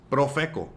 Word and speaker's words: Profeco: It wants to know what is Profeco. That's how you pronounce it, by the way.